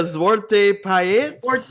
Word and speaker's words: Zwarte Piet: Is that how you pronounce it? Zwarte? Yeah, Zwarte Piet.